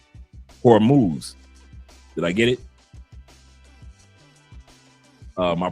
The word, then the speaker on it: Hormuz: Let me see if I pronounce it correctly. Hormuz.